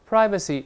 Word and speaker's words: privacy: 你比如说，Don't infringe on his privacy，不要侵占或者侵犯他的隐私。Privacy 也能读成 privacy，在美国